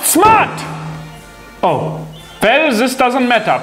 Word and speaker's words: Smart: The next German car name you say wrong is Smart, when it is actually pronounced Smart.